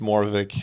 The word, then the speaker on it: Moravcik: It's pronounced Moravcik for some strange reason in a part of Czechoslovakia that my family is from. Okay. The C is supposedly silent, or that's at least